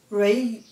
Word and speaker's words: Railway: estrada de ferro Leopoldina raiway se pronuncia hi-way o hi-way escreve assim essa empresa e não